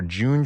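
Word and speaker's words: Junge: pronounce the dealer's name it's j-u-n-g-e or june forge i think is the right way to say it uh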